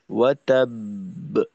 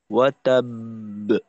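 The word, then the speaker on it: وَتَبَّ: তখন যেটা হয় যে দ্বিতীয় বাও জজম হবে, প্রথম বা তো অলরেডি জজম আছেই, তাহলে 2টা বা। তো এখন আমাদের করতে হবে কি, বায়ের মাখরাজে 2টা বা উচ্চারণ করতে যতটুকু সময় লাগে ওই পরিমাণ সময় অবস্থান করা। আর যেহেতু এখানে কলকলা হবে, তো সেক্ষেত্রে ফিরতি আওয়াজটাকেও একটু শক্তিশালী করা। তাহলে হবে ওয়াতাব, ওয়াতাব।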